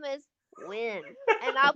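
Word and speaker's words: Nguyen: You last name is Win and I'll pronounce it phonetically. N yen.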